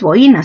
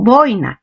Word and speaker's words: boina: o boina muy claro lo correcto no es buena sino boina este es este es